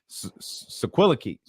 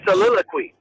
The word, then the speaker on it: soliloquy: you're about to unload us what's the word sequela key what what's the word soliloquy what you get